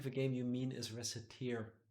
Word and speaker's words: Recettear: didn't make the game but there's no s at the end it has nothing to do with tears yeah true other than